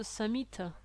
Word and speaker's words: Samhita: Et donc le Samhita, comme c'est un A long, on prononce Samhita avec un A court.